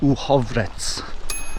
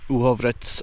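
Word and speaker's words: Uhrovec: Again, it's not said as it's spelt. I believe it's pronounced Uhovrec.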